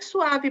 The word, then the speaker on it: sua: Sua, su, a. Tem 2 sílabas, tá?